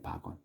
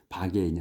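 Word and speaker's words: bargain: 근데 여기 정확한 그 발음은 박원이에요. 박원. 박인이 아니고 이제 우리는 이제 G을을 그냥 개인이라고 읽지. 우리 편한 대로. 영어는 그렇게 안 읽더라고. 그래서 바원이라고 읽어요.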